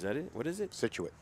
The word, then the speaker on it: Scituate: And one from Scituate High School, which is where Sammy Owens is from. Scituate? Is that it? What is it? Scituate. Scituate.